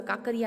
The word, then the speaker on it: Kankaria: और इसमें कंकारिया लेक है. वैसे अपन बोलते हैं ना काकरिया लेक बोलते हैं जिसको. इसमें प्रोनाउंसिएशन अगर हम करने जाएंगे तो KAN कारिया आएगा, बट काकरिया लेक जो बोलते हैं.